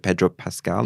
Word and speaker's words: Pedro Pascal: One was this like hilarious fake feud he's having with Pedro Pascal, is how you pronounce his name.